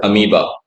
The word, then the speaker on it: amoeba: जब मैं छोटा था इसको अमीबा पढ़ता था, just because of its spelling, but the right pronunciation of this is amoeba.